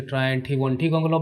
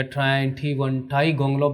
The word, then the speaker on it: Triantiwontigongolope: और ये इस पोएम का जो जो टाइटल है, इसे आप दो तीन प्रकार से आप इसको प्रोनाउंस कर सकते हो। जैसे ट्रायंठी वनठी गोंगलोप भी कह सकते हो, या ट्रायंठी वनठाई गोंगलोप भी कह सकते हो,